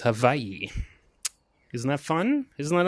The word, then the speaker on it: Hawaii: Hawaii this is uh actually pronounced havayi if you want to get technical CU they do not have a w in their alphabet they just have a a a v so yeah it's actually